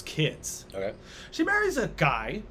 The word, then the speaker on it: Guy: She marries a guy named Guy would be the French pronunciation.